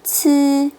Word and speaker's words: ci: Z, C, S 뒤에서 I는 이 소리가 아니라 으 소리를 내실 거예요. ZI는 쯔, CI는 츠, SI는 스 하고 내실 거예요.